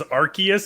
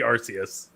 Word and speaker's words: Arceus: I'm pronouncing it the way it's supposed to be pronounced, which is Arceus, even though I think it should be Arceus.